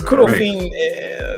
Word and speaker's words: Kudo Fin: It's Kudo Fin, the English or Japanese kind of pronunciation. Kudo Fin, finance fin, right?